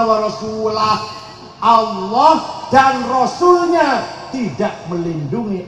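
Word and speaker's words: وَرَسُولُهُ: Allah tidak melindungi rasulnya Wal sulih salah yang benar bacanya Innallaha barium Minal musyrikinna wa rasulah Allah dan rasulnya tidak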